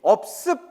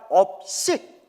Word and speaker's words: 업식: 불래 식 뭐라고요 예 업습 발음 잘해야 돼요 습이 아니라 업식 업의 의식이라는 거예요 내